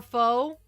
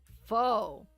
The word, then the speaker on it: faux: You would say fa or faux? Faux? Is it faux? Like... Oh... Oh, the X is silent.